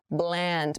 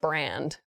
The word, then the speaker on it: bland: careful with your pronunciation bland make the l sound very clearly not brand bland okay so bland